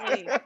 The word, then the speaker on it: Aileen: Aileen. Okay, She was I like, got it. I did not say. I said Aileen.